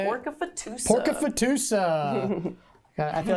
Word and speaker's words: Pork-A-Fatusa: Pork-A-Fatusa.